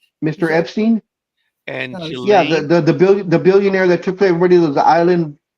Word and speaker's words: Ghislaine: Giselle. No, that's not the way they pronounce it. Believe it or not, it's Okay. crazy. That's why I was saying Ghislaine.